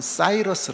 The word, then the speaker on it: 사이러스: 성경에 나와 있는 고입니다 그리고이 스라고 하는 말을 말로 발음하면 키스라고 그러고요 영어로 발음하면 사이러스 그래요 혹시 여러분들 들으신 분들 중에서 키루스 사이러스 그 사람들 다이 고레스에 대한 그 다른 식으로 발음을 한 겁니다이 고레스 아고 하는요 사람이